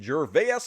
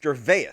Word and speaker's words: Gervais: We're going to shit on Ricky Gervais a little bit. It's Gervais, right? Gervais? I don't know how you pronounce his fucking name.